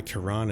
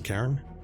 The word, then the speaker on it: Karan: Karan as opposed to Karen. I mean, I work with a Karan at work, so I sort of know how to pronounce it as Karan. But it's very easy to get it mixed up when it's written down like that.